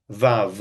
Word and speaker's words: vav: It's just pronounced vav.